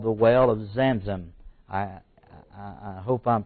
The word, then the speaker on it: Zamzam: of water today is called The Well of zamzam I I hope I'm pronouncing right some there's so many different dialects and so forth but z-a-m-z-a-m it's actually called the whale of zamzan zamzan today now years and centuries later Muhammad